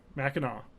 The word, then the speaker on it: Mackinac: and they were wrong and uh so yeah Mackinaw um and it is an old timey Island